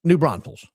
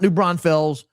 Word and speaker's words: New Braunfels: It's New Braunfels. It's not New Braunfels. If we're gonna be a family, we gotta say it right. New Braunfels, Stephen Bloom. New Braunfels. That's how the locals say it. Don't worry about how it's spelled.